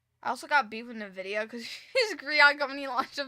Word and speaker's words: Nvidia: Wait, say Nvidia again. Nvidia. That how you say it? Nvidia. N Oh, I guess I'm adding an I. Nid.